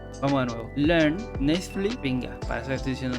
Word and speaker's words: Learn Natively: Entonces, la segunda página de las que les voy a hablar se llama Learn Nextly. Mi inglés sigue siendo una puta mierda. Disculpen por la pronunciación. Vamos de nuevo. Learn Natively.